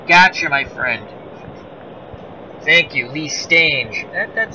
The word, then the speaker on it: Lee Stange: sounds like rang i never know how to pronounce his name so i went with uh sting range stage oh lee stage gotcha my friend thank you lee stage that sounds about right i i have a